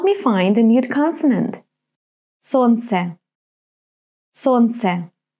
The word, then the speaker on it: Солнце: Солнце. Солнце. Right. L is mute. I'm not pronouncing it.